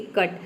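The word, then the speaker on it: cut: pronounce करेंगे तो देखिए जब किसी वर्ड में दो या तीन कंसोनेंट के बीच में अगर यू आता है तो वहां पे य को हम अ प्रोनाउंस करेंगे जैसे कि कट कट का मतलब होता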